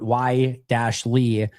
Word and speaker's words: Wiley: And like with Wiley, they put Y-Lee.